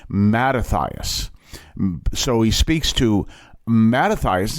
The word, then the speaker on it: Mattathias: Turns to a man by the name of Ma Matias. And let me make sure I pronounced that name right. Um, nope. I knew the minute I said it. I said, "No, that's not his name." Mattathias.